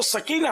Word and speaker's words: سکینہ: اور صاحبزادیوں کے نام یہ ہیں: زینب، سکینہ اور فاطمہ رضی اللہ عنہن. یہ ہمارے یہاں معروف تو سکینہ ہے، ویسے سکینہ اصل تلفظ یہی ہے.